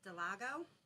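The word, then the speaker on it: del Lago: before and that is I've been pronouncing it right it's De Lago and it's over towards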